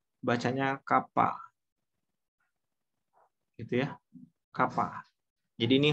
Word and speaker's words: kappa: K ini sebenarnya tulisnya begini ya, bukan K ya, tapi kappa gini ya. Ini bacanya kappa.